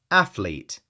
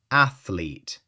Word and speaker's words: athlete: Athlete. 2 syllables. Athlete. No extra vowel in the middle.